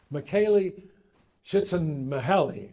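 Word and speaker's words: Csikszentmihalyi: the right a name which I have difficulty pronouncing M shiten Mahi I just call him Michael but he's a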